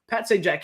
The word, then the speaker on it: Sajak: like whose last name I got it now Pat Sajak can wait because now now we're thinking oh